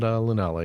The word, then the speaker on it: Lunala: Can I at least ask, did I pronounce those two names correctly? Solgaleo and Lunala, yes.